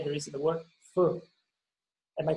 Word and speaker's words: feu: Because my pronunciation is horrible. I think it's like feu, something like that. Can you help me? Feu.